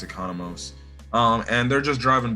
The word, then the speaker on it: Economos: john economos um so i said his name wrong in the first video i think i called him like economics or something or something john economics or something it's economos um and they're just